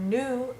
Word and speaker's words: nous: you use the word nous to say we, you have to remember that in front of a vowel there's a z sound, whereas you don't have